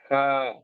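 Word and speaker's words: ح: Ha has to be pronounced from the middle of the throat. Here, it is air. So visualize this part of your throat and start saying with me ha. One thing should be clear that this is the voice of the air. The voice of air should be very clear.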